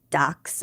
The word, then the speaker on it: Dachshund: But a German would pronounce it dax and that's German for badger.